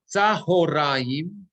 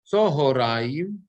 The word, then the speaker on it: צהריים: So, Tzahoraim is the Sephardic pronunciation. Tzohoraim is the Ashkenazi pronunciation.